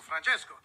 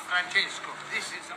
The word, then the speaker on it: Francesco: I don't say it like that. It's three syllables, not ten.